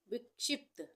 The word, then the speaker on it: विक्षिप्त: विक्षिप्त विक्षिप्त यहां पे विक्षिप्त विक्षिप्त में आधा प का उच्चारण हो रहा है और त का उच्चारण पूरा हो रहा है। विक्षिप्त हम बोल के देखते हैं विक्षिप्त। तो प का उच्चारण आधा आ रहा है।